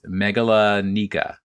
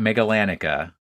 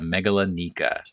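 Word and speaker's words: Magallanica: Vanguard G last night it's Megillah Nika it's not mega Lanica as I originally thought but Megillah Nika and so they're made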